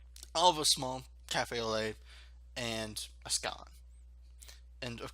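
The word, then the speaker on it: café au lait: a cafe au lait, they call it a cafe au lat because it's spelled L-A-I-T. Some people call it late, some people call it lat. It's lait. Cafe au lait. It's very French sounding, and it is French.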